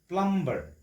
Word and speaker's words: plumber: এই শব্দটোৰ ক্ষেত্ৰতো B is silent. B টো আমি কি কৰিব নোৱাৰো? উচ্চাৰণ কৰিব নোৱাৰো, pronounce কৰিব নোৱাৰো. গতি B টো যদি আমি pronounce নকৰো তেতিয়াহ'লে pronunciation এনেকুৱা হ'ব, উচ্চাৰণটো এনেকুৱা হ'ব. Plumber, not plumber.